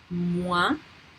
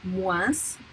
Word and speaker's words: moins: Canadien, combien, et le son loin, moins, that my colleague pronounced moins because she's from the southwest of France, et soin.